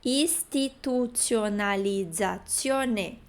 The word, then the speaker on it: istituzionalizzazione: Além disso, nós temos o TI, que é istituzionalizzazione. E não institu, ok? Atenção que TI é ti.